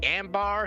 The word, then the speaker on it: Ambar: Is the Ambar Saga?